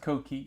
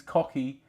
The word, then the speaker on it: Koki: It's pronounced Koki. Okay, that makes sense. Sad Koki. Okay, it's pronounced Koki. But I've also been called Cookie, Cocky, and even just Cock.